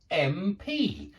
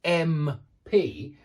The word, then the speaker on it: MP: orange yeah an umbrella but we also say an MP and it's because when we say m p we say it m p yeah we say it like that so it's an MP because it's a vowel sound and it's the sound that's important and MP an MP by